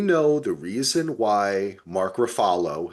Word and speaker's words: Ruffalo: the reason why Mark Ruffalo, as I like to pronounce it the correct Italian way, give props to it.